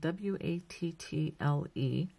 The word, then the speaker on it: wattle: So now the next stitch, we're going to work another wattle stitch, and that is spelled W-A-T-T-L-E. It's not like wattle like a duck, but it's wattle with a T.